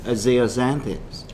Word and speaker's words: zeaxanthin: we call lutein and zeaxanthins. Lutein and zeaxanthin. Correct. Spelled with a Z, actually, not an Yep. X.